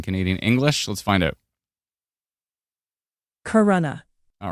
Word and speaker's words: Corunna: Storm moving into, I believe it's Corunna. Let's find out. Let me make sure it's on Canadian English. Let's find out. Corunna.